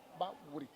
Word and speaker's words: Baoulé: Baoulé, je dis normalement c'est Baouré. Vous voyez comment je prononce en vrai à Tcham. Baouré. Baouré. Voilà, Baouré.